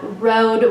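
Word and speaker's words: Rhode: would be really good the brand on this is called road which is a very expensive brand it's spelled r h o d e it's sold in places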